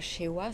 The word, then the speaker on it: Cheuoua: après-midi nous avons avec nous aujourd'hui Joël Joël Chewa ça se prononce c'est ça c'est ça OK et donc